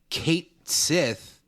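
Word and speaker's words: Cait Sith: think it's it is weird to me that they they pronounce it Kate Sith but also what do I care like it's easier this way and the way I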